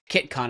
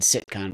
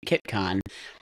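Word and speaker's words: CITCON: but like there's some foundational folks because like Kiton and I pronounced it wrong I said siton but Kiton it was its first one looks like it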